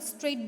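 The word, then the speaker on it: straight: Next है स्ट्रेट, यहाँ पे स्ट्रेट बोलते हो, यहाँ पे जी एच का प्रोनाउंसिएशन होता नहीं है, सो यहाँ पे आपको जी एच के नीचे अंडरलाइन करना है।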